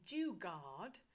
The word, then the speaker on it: Jugaad: Then Jugaad, which is JUGAAD. I spell it a bit different, like guard as in a guard that's protecting you.